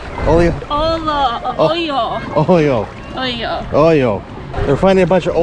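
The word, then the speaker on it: hoyo: Oh, oleo? Oleo? Oyo.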